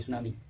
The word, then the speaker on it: tsunami: अच्छा हाँ, सुनामी में टी साइलेंट होता है, TSUNAMI सुनामी।